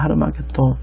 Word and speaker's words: 하르마겟돈: 여러분, 아마겟돈의 원 발음은요, 하르마겟돈입니다. 하르마겟돈.